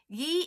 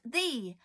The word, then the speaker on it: ye: wrong all this time ye it's actually pronounced the because that's not a y it's a thorn the Forgotten 28th letter